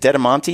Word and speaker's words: Dedimonte: How do you say it? Is it Dedimonte? Yeah, you nailed it.